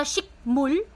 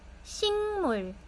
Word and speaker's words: 식물: So dito po imbis na shikmul, imbis na um shikmul, hindi na shikmul, shingmol, shingmol, shingmol. Nag-iiba po yung sound niya.